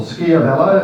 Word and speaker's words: Schiavello: Also, our thanks to Luke Steele from our builders, Schiavello, or Schiavello, as Di tells me it should be pronounced.